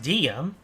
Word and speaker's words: Dehya: Okay, I thought I heard things, but her name is pronounced Dehya.